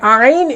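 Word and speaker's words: ع: তো আইনকে কেমন করে পড়তে হবে? আইনকে কণ্ঠনালীর মাঝখান থেকে একটু চেপে উচ্চারণ করতে হবে।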